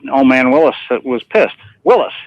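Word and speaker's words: Willys: man Willis was pissed Willis is not Willies right he said that's how you say my name anyhow you guys you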